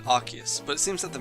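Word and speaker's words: Arceus: the anime PR archus his name as archus arus well it doesn't matter what I think anyway because my pronunciation is different to both the enime and Pokémon Battle Revolution and chances are it's going to be different to the 3D pokeddex as well so Almighty Pokedex 3D Pro app just put me out my misery archus what arus arus you mean I actually got one right archus archus I did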